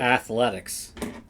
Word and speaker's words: Athletics: have going to athletics? The athletics, folks. Sorry, we're really loopy. At least I am. Why the athletics, Dad? Well, they It's four syllables, by the way.